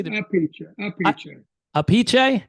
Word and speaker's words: Appice: from Brooklyn in Italy in Italy it's Carmin aiche capiche yeah I knew because it's easy a aiche yeah I've heard I've